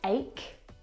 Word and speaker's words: ache: a C Sound and there are quite a few English words that actually have this same pronunciation of the CH combination words like stomach and ache the CH in all of these words is pronounced like a C Sound my brother is an